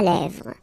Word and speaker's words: lèvres: Final S not pronounced. Lèvres. Okay?